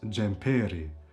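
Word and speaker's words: xhemperi: But if you say the jumper, the sweater, it becomes jumperi, jumperi.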